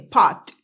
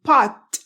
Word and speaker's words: pot: La una termina en T y yo la exploté, pot. Y la otra termina en D y yo la pronuncié, pod. ¿Ok? Pot, pod. Pero si están en una conversación, ellos no pronuncian pot, no explotan la T, pot, a no ser que la frase termine en pot.